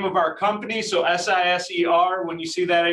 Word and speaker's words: Siser: on these Michael Zooms is how to properly pronounce Siser. All right, so say it with me, Siser. Yes, congratulations, you did it correctly. That is the name of our company, so S-I-S-E-R.